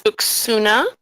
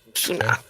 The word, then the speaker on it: Uxuna: Uxuna, how do you say that? Uxuna? It's Uxuna. Uxuna.